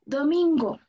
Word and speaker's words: domingo: Vamos con la palabra domingo. Pronuncien conmigo. Do. Do. Do. Do. Mi. Mi. Go. Go. Cuando pronuncien la sílaba tónica, tienen que alzar un poquito más la voz.